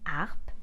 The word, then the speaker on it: harpe: harmonica we also have the H we call aspirated when the H is aspirated it is slightly pronounced and in front of an aspirated age I can't use the apostrophe like for the word harp as you can hear I said and not the H is not silent and so I can't use the lapustrophy this is why we say la ARP and not that's all